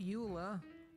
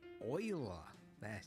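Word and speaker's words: Euler: a utilities rotation rotate not Ula oila yes I know they went with the weird pronunciation I think it was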